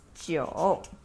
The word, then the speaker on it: 九: And 9 we pronounce as 九.